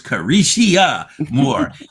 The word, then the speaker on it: Careshia: That's with 4 syllables, Careshia Moore.